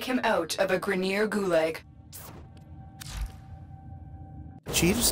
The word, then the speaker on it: gulag: They have gulag instead of gulag. And Gauss instead of Gauss.